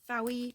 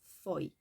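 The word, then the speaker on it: Fowey: once of calling it fowie because Welsh is a frenetic language and you generally tend to pronounce it as it reads and this is not fairy this is Foy like toy as um Andy rbnb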